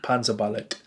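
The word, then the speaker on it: Panzerballett: is by the band Panza ballot or Panzer Ballet if you want to be very specific but those guys would pronounce it Panzer mallet so with it with that on the end yeah dance of the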